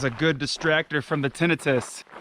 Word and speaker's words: tinnitus: sufferer of tinnitus or how i like to pronounce it tinnitus but it's actually pronounced tinnitus i highly recommend you get out in nature